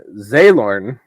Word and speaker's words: Xalorn: I said Caladrel is the Autumn Queen, and Zaylorn. Zaylorn. Wow. That was... Zaylorn? I ain't never heard that. Xalorn. I wrote a Z. That way I'd pronounce it right.